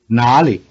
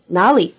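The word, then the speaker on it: 哪里: has a low tone nollie has a rising tone this is because the second syllable was originally Li with a low tone which affected the low tone of na however the low tone of Li is now neutral in this combination and were left with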